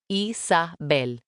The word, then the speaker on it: Isabel: I pronounced the name in Spanish, Isabel.